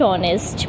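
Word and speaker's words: honest: Rehan is dash ऑनेस्ट boy. Hair similarly हमारा sound ओ से आ रहा है, एच इज साइलेंट, तो हम यहाँ लिखेंगे एन का यूज़ करेंगे।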